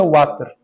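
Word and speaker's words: Vater: Aqui em espanhol seria water. Não sei se assim se diz em espanhol. Pero a pronúncia é water.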